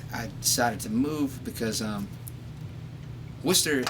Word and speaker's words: Worcester: But Worcester or It's Worcester. Worcester.